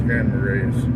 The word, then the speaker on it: Grand Marais: Is it Marais? I think I've been saying it wrong. I think it's Grand Marais.